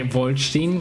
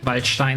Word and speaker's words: Waldstein: I mean, they say Wolstein, but you know, Waldstein is the actual pronunciation if you ask a German for the pronunciation of a German word that was mistaken as a name.